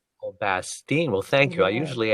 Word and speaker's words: Bastien: your name again yeah Bastian I love that last name it's like actually it's bastine oh bastine well thank you I